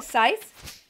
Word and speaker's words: scythe: sith or a stick a scythe right is that what you saw you know yeah that's how you say it how do i get